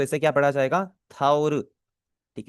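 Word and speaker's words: タオル: थाउर। ठीक है, थाउरू और ठाउल दोनों में इसकी प्रोनाउंसिएशन आपको देखने में सिमिलर लग रही है ना।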